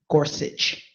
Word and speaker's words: Gorsuch: Gorsuch. Gotta pronounce that. It sounds a little German.